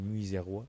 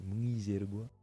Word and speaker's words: Mwizerwa: Il s'est dit Muizerois, mais c'est Muizergois.